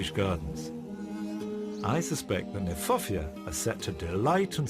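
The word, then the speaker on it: Kniphofia: I like the fact that Nyphofia, which is an awkward word, not an easy word to say, in fact is mispronounced. We should pronounce it Nyphofia, because it was named by Johann Hieronymus Nip.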